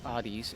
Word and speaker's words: Hades: Hades, or as the god is properly pronounced, Hades, is a pretty unique and highly praised roguelike